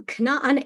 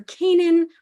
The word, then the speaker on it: Canaan: we called it the land of um Canan erit Canan or Canaan or however you choose to pronounce the Hebrew it is all good but yes so we're